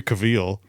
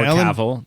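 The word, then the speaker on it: Cavill: Henry Cavile or Cavl if you want to say it right.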